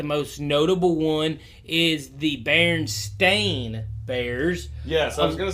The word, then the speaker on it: Berenstain: of people remember the berenstain bears bearing the berenstain bears no we actually we all pronounce it bernstein bears but what you're referring